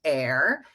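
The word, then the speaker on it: AER: i have another acronym a e r pronounced air for acknowledge engage and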